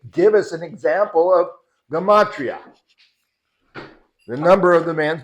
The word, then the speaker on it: gematria: So most people say that's, how do you say that? Geramia? Did you say that? Geramia. Gematria, yeah. And then I've seen many debates.